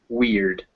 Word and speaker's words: weird: and there's one big exception to this is the word weird weird it's before an r but it's e still instead of f so with our rules we think would be weird but instead it's weird eo eo is very